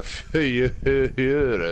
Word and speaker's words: Führer: Right, don't know where the Führer is going to be, though.